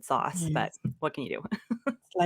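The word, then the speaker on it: SaaS: uh organic to say SAS I would have said sauce but what can you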